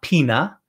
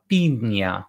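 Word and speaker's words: piña: we have the in with a tilde on it a squiggly that's nia so it's not pina it's pina which is pineapple pina so when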